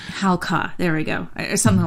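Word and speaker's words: Halca: It's HAL-CA. Halka.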